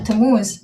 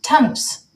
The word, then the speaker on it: Tamuz: met, first of all, Dutch people, and I know that also from my own family, they cannot pronounce the letter Z. So my name, Tamuz, has become Tamuz. And since I moved to Holland, I was Tamuz for a while. And I really don't like that pronunciation of my name.